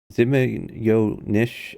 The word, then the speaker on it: Zmeenish: advice from zarov here says Nish zimma yo Nish where is the Y come from oh is it it is apparently little snake in Russia so Zim yo Nish um is this another